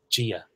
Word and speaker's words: Dia: So if we take the first word you used there, saying hello, Gia. For me, it sounds like a J, Gia.